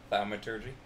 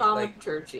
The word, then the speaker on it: thaumaturgy: Thaumaturgy. My brain just goes, yeah, no. Thaumaturgy? Is that right? So, you know how to say turgy, right? Like turgy? Yeah, so like metallurgy, fuck, brain stop there.